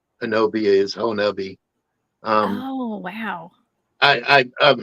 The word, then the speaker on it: Honobia: Did I pronounce Honobia right tonight? Yes, Honobia. That's how they pronounce it. Okay, and it's not spelled anything like that. No, Honobia doesn't spell Honobia in my book, but I'm pretty sure that's the Choctaw way.